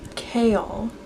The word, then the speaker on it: Kayle: pronounce but Kayle Kayle I feel like it's like Gale but with a k' but also there's like an extra syllable almost I don't know but